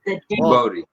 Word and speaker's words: Djibouti: Djibouti. J-sound. All right. J-sound for Djibouti. Good to see you, Patricia.